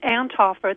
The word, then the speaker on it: Anthofer: It's Anthofer. That TH is kind of a soft T.